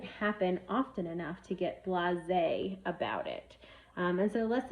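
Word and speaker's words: blasé: for the word of the week I chose blase say it with me blase it is spelled b la s e it's an adjective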